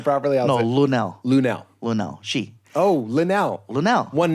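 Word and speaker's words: Lunell: Linnell. She. Oh, Linnell. Linnell. One name. Yes. I thought it was like Lil Nell. No, Forget it. not Lil Nell. Linnell.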